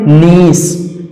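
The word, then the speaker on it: niece: तरह से आगे है नीस नीस एन आई ई सी ई अंत में सी के बाद ई आया सी का सही उच्चारण हो जाएगा सा और इसका सही उच्चारण नीस उसी तरह से सर्कल सर्कल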